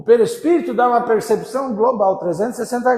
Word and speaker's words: perispírito: Quase, a primeira sílaba você acertou. Perispírito.